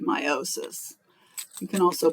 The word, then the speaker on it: meiosis: reproduction is a type of cell division called meiosis you can also pronounce it meosis um but I say meiosis so I put on this slide I added